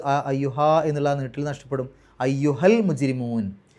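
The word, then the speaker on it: الْمُجْرِمُونَ: എന്നുള്ള നീട്ടൽ നഷ്ടപ്പെടും അയ്യുഹൽ മുജരിമൂൻ മുജരിമ ജീമി സുക്കുന് കൽക്കലത്തിന്റെ അക്ഷരമാണ് എടുത്തു പറയണം റാിന് കസ്ർ ആയതുകൊണ്ട് രീ എന്നുള്ള ഉച്ചാരണം കൊടുക്കുക അവസാനത്തെ നൂന് സുക്കൂൻ ഇട്ടിട്ട് നിർത്തുകും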